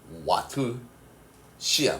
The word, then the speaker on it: 와트시: 그지 맞습니까 전력량 단위는 와트 시야 그지 소비 전력에 뭐를 곱해 주면 되니 시간을 곱해 주면 됩니다 순서가 알겠습니까 그래서 요거 어떻게 읽는다 와트시 그지 시라고 읽어요 전력은 어떻게 읽었습니까 아